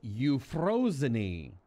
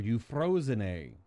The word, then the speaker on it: Euphrosyne: brain how it's pronounced it's you frozeny or you frozen a something like that that's how it's pronounced I actually had to